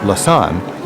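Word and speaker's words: Lausanne: shops by the way be careful with the pronunciation many confuse Lan with lucern right Lan's collection of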